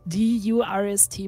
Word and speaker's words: Durst: is gustav thirst the word is pronounced durst and is the word for thirst well that's interesting oh